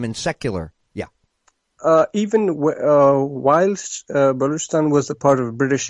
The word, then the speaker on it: Balochistan: It's Balochistan. Balochistan. Very good. Yeah. Very Baloch. It looks like Balak, but it's Baloch.